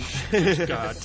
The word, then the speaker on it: Stuttgart: Well, if you really want to be offended, that's called Stuttgart. The SH, imagine. Stuttgart.